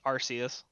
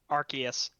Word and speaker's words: Arceus: Pokemon Legends Arceus. Arceus. Oh my god, I hate the real Arcanine.